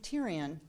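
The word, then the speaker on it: Thirion: person next to him, who's Keith Tyrion, who is, yes, sounds like the character on Game of Thrones. That's how he told me to pronounce it.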